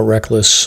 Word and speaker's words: Rek-Lis: on facebook and instagram if you just search reckless brewing it's spelled phonetically so it's rek lis got it and uh